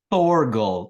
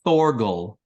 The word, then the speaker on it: Thorgal: Can you pronounce it precisely? Thorgal. TH. Thorgal. Yeah, this is difficult. It's not a Slavic moving of two letters together. You have so many consonants in that darn language, you can't pronounce the two TH together.